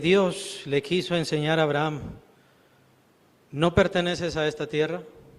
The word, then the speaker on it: Abraham: Abraham tiene h. Nosotros lo pronunciamos como un poco mudo, ¿no? Pero en realidad es Abraham. Es es como se tiene que pronunciar.